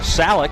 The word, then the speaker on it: Salak: Salak, apparently the correct pronunciation, so we'll switch that up a little bit.